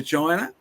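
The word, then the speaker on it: Qin: back to their ancestral characters who came to China biblically of course they came after Babel and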